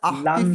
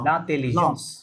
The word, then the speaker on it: l'intelligence: কি হবে আইন সব la উচ্চারণ হবে তাহলে এল অ্যাড করলে লা লা la লাতেলিজেন্স কি বলবেন oui লাতেলিজেন্স নট লান l'intelligence লান বলা যাবে